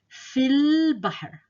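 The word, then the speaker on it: في البحر: So we're going to say fil bahr. Fil bahr. These two letters are silent here.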